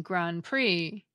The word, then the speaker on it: Grand Prix: The same goes for the silent P and silent T in coup d'etat, and the silent D and silent X in Grand Prix.